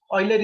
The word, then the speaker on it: Euler: Sometimes called as Euler, sometimes Euler's. So Euler is the proper, you can say, pronunciation of this.